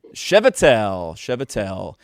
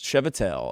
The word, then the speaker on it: Chvatal: Chvatal. Manischewitz. Chvatal. Okay. This is Dr. Brad Chvatal. If you didn't know how to pronounce that because you've only ever seen his